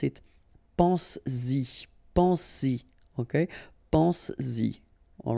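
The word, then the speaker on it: penses-y: But then if you put this Y, so this pronoun after, then you will have to put back this S just to produce it orally, because you will pronounce it pense-y, pense-y, okay?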